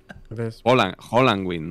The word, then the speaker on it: Halloween: hallowe entado en Halloween Halloween no hwin hnn Holland Win No porque se dice Holland es verdad es